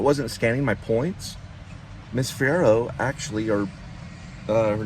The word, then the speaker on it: Fierro: Fierro. Fierro.